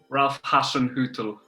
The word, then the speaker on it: Hasenhüttl: Ralph Hasenhüttl. Ralph Hasenhüttl.